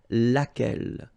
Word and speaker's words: laquelle: So basically same rule, QU, U is not pronounced here. And then you've got this double L-E. Well, phonetically here, it is the same as what we have here. So, laquelle.